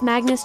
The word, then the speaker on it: Magnus: It's Magnus Chase, Rhymes with Swagness from Magnus, Chase and the Gods of Asgard by Rick Riordan.